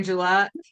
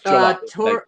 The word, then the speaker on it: Gillette: Gillette. Hey, Is that how you say it? no, Gillette. Did you say Gillette? I was coughing. Yep. It's Gillette.